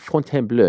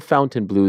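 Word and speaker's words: Fontainebleau: new uh font BL I always have to say it like that font BL not the fountain blue the font BL a rematch of one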